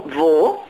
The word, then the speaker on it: Wo: Vo so this is, it's spelled with a W and all the W's in German are pronounced. So I would say where, but how is it spelled in German? W-O. Just W-O.